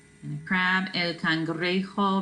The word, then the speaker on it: cangrejo: And a crab, el cangrejo. Remember, J makes an H sound. El cangrejo.